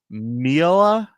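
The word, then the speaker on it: Mialah: It's Mila.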